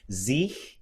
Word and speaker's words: sich: Sich would be that forward CH, and nach would be the back CH.